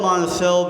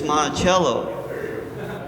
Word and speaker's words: Monticello: I love Monticello because that's not even how you're supposed to pronounce it. It's Monticello, right?